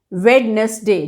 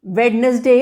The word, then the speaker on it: Wednesday: कि मैंने पाया है 90% लोग मेरे आसपास बोल रहे होते हैं वेडनेसडे, जो उसकी स्पेलिंग होती है वेडनेसडे, which is wrong. The correct English pronunciation for supposedly Wednesday is Wednesday. Wednesday. कई सारे इसमें साइलेंट लेटर वर्ड्स हैं.